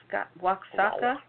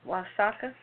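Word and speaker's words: Oaxaca: market in the southern state of aak wa waaka is that how you pronounce it oaka I'm not going o a x a CA o aaka o aaka the Widemouth bottles were filled with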